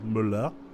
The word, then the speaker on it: Müller: So So really I just know the correct pronunciation for the German name which is a German pronunciation. Müller.